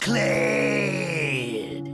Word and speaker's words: Kled: What rhymes with dead? That's right. It's Kled.